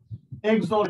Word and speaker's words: XOR: Now we're going to run some special gate, XOR gate. উচ্চারণটা হচ্ছে XOR, এর মানে হচ্ছে এক্সক্লুসিভ OR।